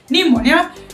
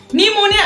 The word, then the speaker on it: pneumonia: it is pronounced as pneumonia this is because p is silent that's why it is pronounced as pneumonia and not Pia well today in this